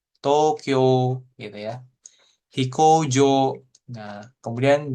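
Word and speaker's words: 東京: Cara baca kanjinya ini tou dan kyo, gitu ya. Ada U-nya sebenarnya, seperti itu. Oke, tapi cara melafalkan gitu ya. Dia Tokyo gitu ya. Tokyo gitu ya, seperti itu ya. Jadi U-nya nggak dibaca, tapi O-nya dipanjangin. Tokyo gitu ya.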